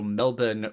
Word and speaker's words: Melbourne: So Melbourne for the Collingwood Magpies is correct. Appreciate JP's correct pronunciation.